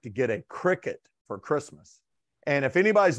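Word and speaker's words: Cricut: it's i think it's spelled c-r-i-c-u-t like cry-cut but they pronounce it cricket and i i don't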